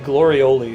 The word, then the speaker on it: glorioli: I think it's supposed to be glorioli, like ravioli.